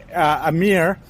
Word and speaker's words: Amir: So we just made his brand Bis Shanwari, So my name, Amir, is actually pronounced Amir in Pakistan.